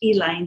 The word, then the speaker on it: Elaine: That and the Tulsa race riots, the Elaine, we call it in Arkansas, has to be pronounced Elaine.